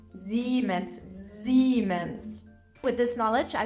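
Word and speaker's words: Siemens: after an e the whole thing is being pronounced like a long e e seens and German uh always has soft s's Z and that have more of a buzzing sound so it's not seens it's zens Zs with this knowledge I bet you can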